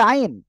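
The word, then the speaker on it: عين: নাই দেখেন এই যে আইন এই আইন অক্ষরটা আমরা উচ্চারণ করব কোথা থেকে হলক বলতে গলা গলার মধ্যখান এভাবে রয়েছে এই দুই পাশ থেকে হালকা চাপ হবে আইন আইন আপনি কিন্তু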